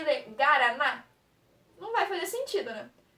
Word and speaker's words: Guaraná: Sempre que tiver o A ou o O, ele não vai ser mudo. A gente vai falar ele. Igual na palavra Guaraná.